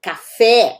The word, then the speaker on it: café: Há outras palavras, por exemplo, que todo mundo gosta, café, bom, ou pelo menos a maioria das pessoas. Esse e, ele vai se estender, porque ele é agudo, tá?